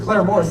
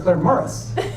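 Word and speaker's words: Claremorris: for Claire Morris now they don't pronounce it Claire Morris they pronounce it Claire Morris but I located a gentleman and I started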